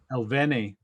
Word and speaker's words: Elneny: And Xhaka and, how do you pronounce his name right? Elneny.